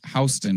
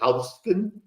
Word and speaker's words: Houston: I guess Sam Houston could have been Houston. Sam Houston doesn't sound as tough as Houston or Austin or Dallas, right? So that's why we call Houston Street rather than Houston, how it's spelled today.